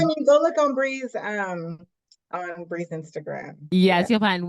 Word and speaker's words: Bri: That is my podcast name, podcast Instagram, and you can find me at Bree BR, I think two eyes dot like the cheese, Bree like the cheese.